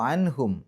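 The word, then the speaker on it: عنه: നിർത്തുകയാണെങ്കിൽ അൻ, അവിടെ ഹാഇന് സുക്കൂനിട്ടിട്ട് നിർത്തുക. ഇനി നിർത്താതെ പോവുകയാണെങ്കിൽ അവിടെ എഴുതിയ പോലെ അൻഹു എന്ന് പറഞ്ഞിട്ട് തന്നെ പോവുക. അപ്പോൾ ശ്രദ്ധിക്കേണ്ട കാര്യം, ആ ഹാഇന് നീട്ടാൻ പാടില്ല.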